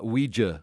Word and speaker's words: Ouija: and speaking of uh Ouija board which we always call the Ouija board that's what it is the Ouija board but it's spelled o-u-i-j-a do you know why